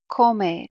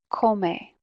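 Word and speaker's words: come: use these congregations here if you say she eats a yeah koumei that's how you say she eats a yeah Cole may again we're pronouncing each Val in Spanish right Cole may hey yo Co me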